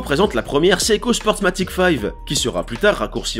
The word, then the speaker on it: five: A l'origine, il semblerait que le 5, prononcé à l'anglaise 5 même au Japon depuis le début, était simplement une idée marketing.